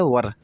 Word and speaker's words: were: कुछ बच्चे इसको वेयर पढ़ते हैं और कुछ लोग वर पढ़ते हैं, जबकि प्रोनाउंसिएशन इसका सही है वर।